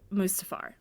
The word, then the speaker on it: Mustafar: the separatists over like to Mustafar which is maybe how you say it yeah that is